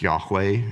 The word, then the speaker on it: Yahweh: Certain traditions don't pronounce it. We do. It's Yahweh.